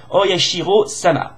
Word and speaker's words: Oyashiro-sama: Oyashiro-sama excusez-moi, j'ai mal prononcé, la déité locale, Oyashiro-sama, voilà.